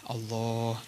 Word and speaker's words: Allah: Allah, cara bacanya dipanjangkan lafzul jalahnya.